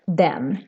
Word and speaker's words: den: it for n words and here the e is very short even if it's just one consonant coming after so we pronounce this as then it for example in